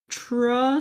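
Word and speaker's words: Trosse: Emma tra TR tra it's spelled t r o SS e uh I know enough German to know that you pronounce Ease on the ends of words but it doesn't sound right if you do but anyway she was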